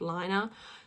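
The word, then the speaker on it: Laine: And I'm so tempted to call them Lane magazines, but I know they're pronounced like liner.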